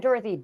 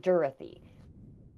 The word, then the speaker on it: Dury: down his last name was Dury not dthy Dury and after the church